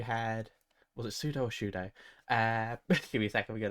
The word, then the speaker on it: Shudo: Uh, you had Pseudo, you had was it Pseudo or Shudo?